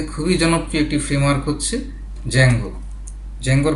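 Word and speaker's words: Django: এর মধ্যে খুবই জনপ্রিয় একটি ফ্রেমওয়ার্ক হচ্ছে জ্যাঙ্গো। জ্যাঙ্গোর বানানটা হচ্ছেডি যে এম জি ও তো এই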